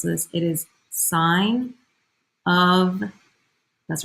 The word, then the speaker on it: sine: and you are just watching you're gonna say sin of theta and cos of theta don't do that don't do that when you pronounce this when you pronounce this it is sine of that's right there's an up there theta